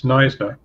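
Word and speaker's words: Knysna: I can help with the spelling and the pronunciation. It's Neisna, and it's actually from the southern part of South Africa.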